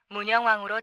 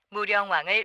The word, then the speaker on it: 무령왕: 가운데 글자는 편안할 자이다 본디 발음이 영이기 때문에 안녕 강령 등과 마찬가지로 문왕이 쓰고 또 그렇게 발음해야 옳다 그런데이 영자는 우리의 언어